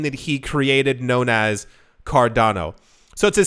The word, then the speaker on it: Cardano: have received is that if you said mardano that is to say you you mispronounced cardano uh we've seen before